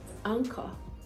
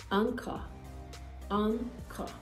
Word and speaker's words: anchor: talk about words where the h letter doesn't start it it's in the middle but it is absolutely silent for instance anchor anchor okay yes chaos chaos